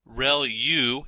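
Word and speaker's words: ReLU: there are multiple hidden layers like convolution layer rel u is how that is pronounced when that's the rectified linear unit that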